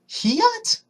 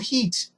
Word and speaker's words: Heat: Heat, like the temperature, or like a synonym to fire. Heat. Not hat, not hate, not hiat.